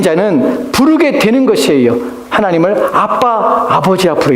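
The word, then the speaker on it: אבא: 바란다 는 원래 의미 원래 그대로 발음하면 아바 라는 말입니다 아마 아랍어와 와봐 아빠의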